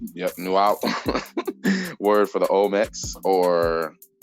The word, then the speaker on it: Nahuatl: I think it's pronounced Nuat. I think that's how James said it. Yeah. Oh yeah, you're right. Nuat. Is that L in it? Okay. I'm not touching that L.